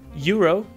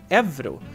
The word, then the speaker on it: euro: of pronouncing it, and one is actually pronouncing it the English way, euro, and the other pronunciation is evro. And this pronunciation is kind of funny because, I mean, it's written with a U, but still we pronounce it like a V.